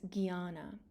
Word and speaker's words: jnana: is referred to as jnana. The JN in that top word is pronounced as gya, G-Y-A, when the N has a tilde over it.